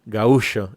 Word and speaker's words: gaúcho: Hablamos de vida pastoril, de capangas, de la etimología brasilera de la palabra gaúcho, que algunos viejos orientales todavía pronuncian gaú, como lo acabo de decir yo, gaúcho en lugar de gaucho, ¿no?